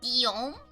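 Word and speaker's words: Guillaume: is it uh what's some good examples like Gom is the French equivalate of William Rishad is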